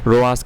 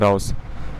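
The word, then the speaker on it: Raos: ओ ई एस या रोस कहते हैं नहीं राउस कहते हैं राउस ठीक है तो चॉइस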